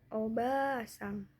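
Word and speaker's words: おばあさん: Lalu contoh kedua yaitu ada obasang. A di sini juga fungsinya untuk memanjangkan. Jadi dibacanya panjang obasang.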